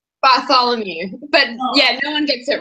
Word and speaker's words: Bartholomew: and how do you say your last name bolom you but no one gets it right yeah so